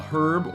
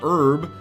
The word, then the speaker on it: herb: from this guy here every time I pronounce it a different way people get angry I can't believe you're one of those douchebags that says herb Northern lion wow you're such a Philistine you pronounce the h in Herve anyway we're going to